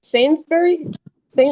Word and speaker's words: Sainsbury's: This is a This is quite How do you pronounce that? Sainsbury. S Sainsbury's.